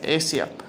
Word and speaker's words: Asia: Asia Asia Asia Asia Asia seriously why is is a name pronounced like the continent of Asia anyways as he picks